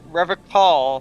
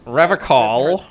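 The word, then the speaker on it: Revachol: the bisque doll threads rev call revical i call it something different because i'm special and i know better than it he pronounces rivercon with a hard k unlike other people i'm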